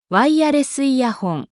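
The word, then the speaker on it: ワイヤレスイヤホン: 일본어 발음은 다음과 같습니다. ワイヤレスイヤホン、 Bluetooth イヤホン、ワイヤ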